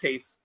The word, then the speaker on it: Reis: I had not seen this, but it's a Rod Hayes cover, and that's REIS, I believe. Yes. All right. So it's pronounced Hayes.